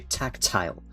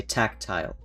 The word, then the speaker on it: tactile: t t right tactile but we say Tac but we don't say tile we don't say tactile we say tactile so we aspirate the first cons or the first syllable more than the second one uh another thing you